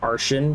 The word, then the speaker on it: Artian: I pronounce it arian cuz T I N T I A N Martian. Archian makes sense to me, so I pronounce it arch. I know they pronounce it Ardian in the game.